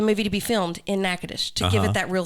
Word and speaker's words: Natchitoches: And it's actually in Robert Harling grew up in Natchitoches, not Nacogdoches.